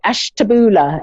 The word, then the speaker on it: Ashtabula: hello um i i don't know if i pronounced that right ash taboola is that is that yeah correct that's correct